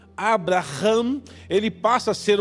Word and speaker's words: Abraham: separa de Abraão Abrão ainda não é Abraão a pronúncia Abraham porque o nome do senhor uma letra do nome de Deus entra no nome de Abraão Abrão o que para nós é apenas uma letra a e aumenta a pronúncia de Abraão pro Hebreu ou pro judeu Abraham ele passa a ser